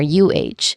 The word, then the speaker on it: a: It is unstressed and pronounced quickly as as I mentioned earlier, UH, almost like a soft, quick sound between words.